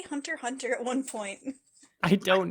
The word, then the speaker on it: Hunter x Hunter: up I heard them say it they said Hunter hunter they didn't say the X but the X